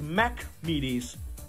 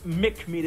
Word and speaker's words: Mac Meaties: not even pronounced right it's mac meaties like big mac not mick media that mcdonald's but no